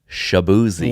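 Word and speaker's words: Chibueze: bir certificate right now it's spelled c h i bu u e z e do that again c c h i bu u e z e so it's C it's not like booze like shab boozy right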